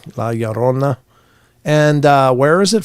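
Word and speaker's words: Llorona: going to go to LA yarona or Lona how however I think the two L's is a y so I'm going to pronounce it that way Laona and uh where is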